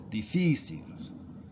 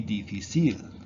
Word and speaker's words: difícil: Okay, the accent goes on the accent, such as difícil. Now, if this didn't have an accent, it would be difícil, but because it ends in a consonant.